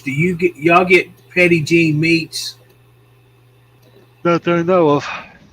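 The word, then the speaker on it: Petit Jean: if you want lunch meets let's go what Petty jeans Petty Peggy p e t i t petite oh petite okay but it's pronounced Petty Jean yeah yeah it's petite Jean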